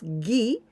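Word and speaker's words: 義: The first one that we pronounce gi, this means righteousness and justice.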